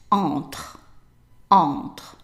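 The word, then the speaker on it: entre: that the e at the end is silent right on on very good now let's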